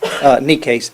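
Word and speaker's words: Necaise: My name is Necase. I'm the Regional Manager for Water Company of America. Could you spell that name? Necase, N-E-C-A-I-S-E.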